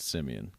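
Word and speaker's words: Siemian: team in a sticky it's not Dave it's pronounced simian Trevor simian no hey Dylan I I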